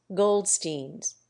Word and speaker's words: Goldstein: a somewhat laborious refinement changed the pronunciation of the terminal Stein in their names so that it rhymes not with line but with being thus in fashionable Jewish